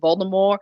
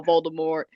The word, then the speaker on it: Voldemort: No, oh yeah, the T is silent. Yeah, I know. But anyway, in this scene, in this chapter, that is when Hagrid tells Harry about how Voldemort, I'm calling him Voldemort,